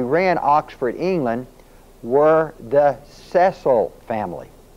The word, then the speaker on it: Cecil: Cecil Rhodes set up a secret society financed by the Cecils. Now, if you'll notice his name is spelled C-E-C-I-L. Most people pronounce it Cecil Rhodes, but it's not. It's Cecil Rhodes.